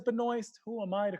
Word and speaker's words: Benoist: she wanted to say Benoit Benoit and they pronounce the T you would think the T is silent but if she says Benoist Who am I to